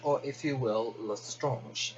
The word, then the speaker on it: Lestrange: or if you will, Lestrange. It really depends on how you pronounce the surname. People have been telling me different ways to pronounce it ever since I started saying Lestrange.